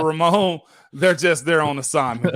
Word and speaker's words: Ramon: do it all wrong if they're calling me Raymond instead of instead of Ramon they're just there on